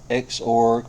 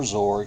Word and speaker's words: Xorg: So I have to install Xorg or Zorg, however you want to pronounce it.